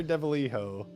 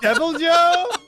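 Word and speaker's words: Deviljho: I have hunted a singular Deviliho. I've also been accosted by several Deviliho wait, wielding how do you pronounce Tiki-Yakus as it?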